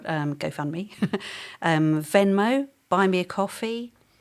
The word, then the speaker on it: Ko-fi: So other alternative sort of GoFundMe type things are GoFundMe, Venmo, Buy Me a Coffee. There's one literally called Coffee, but it's spelled KO-FI.